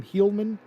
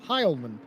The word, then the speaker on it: Heilman: And he makes fun of me every single week, Ryan, because I insist on pronouncing his name Heilman. It is Heilman.